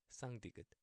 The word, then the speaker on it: 쌍디귿: You know how the number in Spanish, uno, dos, tres, tres, yes, that t. And tú, yes, y tú, tú. Okay.